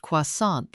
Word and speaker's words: croissant: 2 years of high school French from a woman who'd never left the state and pronounced croissant like it rhymed with tenant.